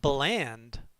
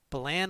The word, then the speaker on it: Balan: Baland. No D's. Balan Wonderworld. Or Balan. It could be either. I've been saying Balan Wonderworld, but well, if nobody knows how to say it. If you had an M, you wouldn't say Malan. It's Balan.